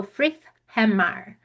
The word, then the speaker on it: Friðheimar: There's the the pronunciation for the Icelandic, so you can start learning right away. So, Friðheimar Friðheimar.